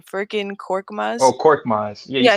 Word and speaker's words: Korkmaz: I don't even know how to pronounce his name. Furkan Korkmaz. Oh, Korkmaz.